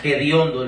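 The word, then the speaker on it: hediondo: Es ediondo con h, pero allá lo lo pronuncian con la J. Gediondo, lo hacen así.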